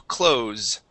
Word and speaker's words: close: the verb to close the difference is the S Okay so that s is either going to be a voiced s or a voiceless s the verb to close the door okay I closed my door I'm closing my door that's going to have a uh a voiced s on it and it'll have